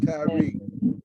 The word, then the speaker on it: Tyre: In the Bible, the city called Tyre is spelled Tyre, but when his name is pronounced, it's pronounced Tyree.